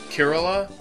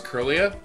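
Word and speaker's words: Kirlia: on this Kerala curlia I always pronounce this Pokemon's name wrong but it kind of sucks because when I was like 13 when this game came out I was gonna announce it Kerala but now that I'm older I know it's curlya but because I got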